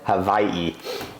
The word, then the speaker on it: Hawaii: community from scratch in Hawaii, or as the locals pronounce it the correct way, Hawaii.